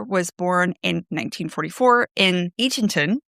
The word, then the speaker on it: Eatonton: Now, Alice Walker was born in 1944 in Eatonton, assuming you pronounce that with all the T's. Otherwise, it might be Edendon.